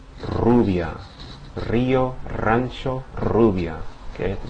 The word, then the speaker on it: rubia: Now let's start with the beginning, because at the beginning of words it has the same pronunciation as the double R. In other words, that multiple trill, right? The rolled R sound. Rio, rancho, rubia.